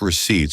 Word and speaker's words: receipt: My company needs my gas receipts for work expenses. Sometimes I find them crumpled in my car later. The P in receipt is silent, Leo.